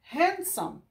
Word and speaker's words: handsome: Esse D aqui, ele é mudo. Esse D, ele é mudo. Então, fala handsome. E esse M também é mudo, esse E aqui, ó, some. Então, termina a palavra no M.